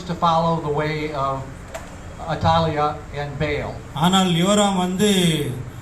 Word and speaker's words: Athaliah: And this is about, we call it, I've been pronouncing it Athaliah, but you say Atalia. Yes, correct.